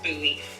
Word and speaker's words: Bowie: There's a town in Maryland called Bowie, except it's pronounced Bowie.